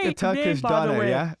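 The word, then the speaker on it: döner: Turkish people are like doner. You're actually closer to the correct you version. You gotta roll the R.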